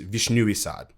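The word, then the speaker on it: Вишнёвый сад: butcher the pronunciation, but Cherry Orchard in Russian is Vishnui Sad. When he was writing it, he's like, okay, if I stress either the first syllable, it becomes, a cherry orchard for cherries, for the fruit. So something that bears fruit. If I stress the second syllable, it becomes a cherry orchard for cherry blossoms.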